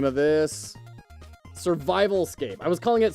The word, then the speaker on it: Survivalscape: Survivalscape. I was calling it Survivorscape. I was calling it Survivorscape instead of Survivalscape.